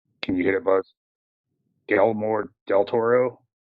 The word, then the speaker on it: Guillermo del Toro: and directed by, and I always pronounce his name wrong. Can you hit it, Buzz? Guillermo del Toro. Guillermo del Toro.